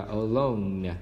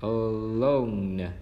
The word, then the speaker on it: alone: Nó đọc là cái âm đầu tiên là âm schwa sao, âm thứ hai là long o và nhớ là âm n ở cuối. Và mình đọc là alone, alone.